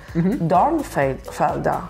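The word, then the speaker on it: Dornfelder: ooh Don Felder ah you say the Earth darn Felder yeah Don Felder Dawn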